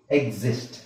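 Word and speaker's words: exist: ಇದನ್ನ ಈ ತರ ಓದಬೇಕು ಎಕ್ಸಾಮ್ ಎಕ್ಸಾಮ್ ಆಮೇಲೆ ಏನಿದೆ ಎಕ್ಸಿಸ್ಟ್ ಎಕ್ಸಿಸ್ಟ್ ಈತರ ಇದೆ ಅಲ್ವಾ ಸೋ x ಅನ್ನೋ ಸರಿ ಇಲ್ಲಿ ಇಲ್ಲಿ ನಾವು ಈ ಸಕಂಗಿಲ್ಲ.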